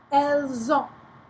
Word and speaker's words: elles ont: So you get to say that S there. Ils ont, elles ont.